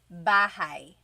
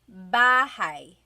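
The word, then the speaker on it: bahay: Bahai. Bahai. You might notice that the spelling is a y at the end. So it looks like bahi, but it's pronounced bahi. That a y combination is bahi.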